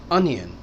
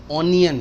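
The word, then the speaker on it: onion: अनियन, ऑनियन नहीं।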